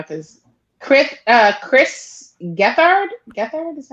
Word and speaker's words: Gethard: of right now because chris uh chris gethard get there this is how you say it i know